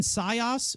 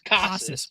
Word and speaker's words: Casas: Tristan Sayas? Who gives a shit? Anyways, what? What's Casas. his It's Casas. Whatever. Not whatever the hell you said.